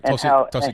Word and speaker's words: Tulsi: guys were touching on this, that the whole Tulsi, I think that's how you say her name. Yeah, you're right. Tulsi Gabbard.